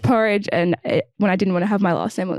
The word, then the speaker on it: Burridge: it's fine no it it rhymes with porridge and when I didn't